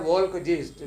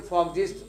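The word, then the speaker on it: Volksgeist: राष्ट्र चेतना फॉग ये लिखा होता है वोल्कजीस्ट, VOLKGIEST, वोल्कजीस्ट। इसे जर्मन में प्रोनाउंसिएशन इसका F है, तो इसे फॉगजीस्ट कहा जाना चाहिए।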